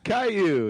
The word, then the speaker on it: Caillou: Caillou? Is that how you say it? Caillou, yeah, Alright.